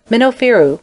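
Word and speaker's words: Mennefer: minofiru from his tomb minofiru which is the correct pronunciation in the origin of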